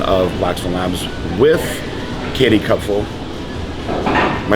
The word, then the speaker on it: Kopfle: PG Braun here, president of Blackstone Labs, with Katie Kopfle. Am I saying it right? Hi guys, Kopfle. Kopfle. Close, Kopfle.